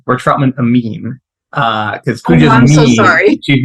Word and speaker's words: Amin: So let me start by saying we're Troutman Amin, because I'm so sorry.